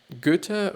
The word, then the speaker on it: Goethe: but it's Goethe actually. It's G actually and Ö, which is a letter there is not in the English alphabet, but they write it